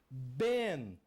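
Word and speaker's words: בן: Qual a pronúncia que eu tenho aqui? Ben.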